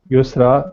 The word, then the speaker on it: Yusra: Is it Yosra or how does one say it? Yusra? Yusra, this correct spelling.